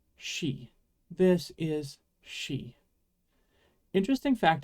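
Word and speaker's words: し: k c but no Japanese doesn't have the C Sound instead we get she this is she interesting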